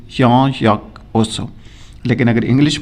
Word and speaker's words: Jean-Jacques Rousseau: तो इसको प्रोनाउंस किया जाता है करेक्टली जॉन जैक रूसो, लेकिन अगर इंग्लिश में हम प्रोनाउंस करें तो हम कह सकते हैं जॉन जैक रूसो.